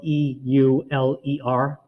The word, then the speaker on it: Euler: this guy named euler his name is spelled e-u-l-e-r um it was pronounced euler okay and it's like